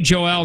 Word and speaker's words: Joelle: this yeah I'm sorry my name is pronounced Joelle well then say Joelle not Joel but that's probably how